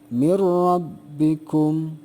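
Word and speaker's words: مِنْ رَبِّكُمْ: langsung Kemudian yang kedua nun mati menghadapi ro juga Sama ya bacanya adalah mirrobbikum jadi tidak ditahan dulu dan tidak disertai dengung yah tapi lang lang Sung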